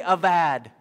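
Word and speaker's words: עבד: In Hebrew, you pronounce that B as a V. So everyone say avad.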